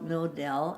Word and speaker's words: Knodel: in Germany and my grandpa's name was William knodel KN o de l only we like to pronounce it no doubt canoodle wasn't all the favorite name of any we call it no del and his wife was